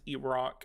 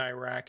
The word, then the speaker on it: Iraq: Iraq is pronounced Iraq in the UK and Iraq in the US.